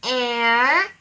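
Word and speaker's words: heir: An honor, an air, an our, an honest girl. If you listen carefully, H-O-U-R and O-U-R pronounce exactly the same way as our. H-E-I-R and A-I-R pronounced exactly the same way as air.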